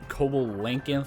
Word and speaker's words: coelacanth: So I descended into the depths of the shallow river, found a coelacanth, who, by the way, I pronounced coelacanth for like 5 years before I decided to ask a British AI fella.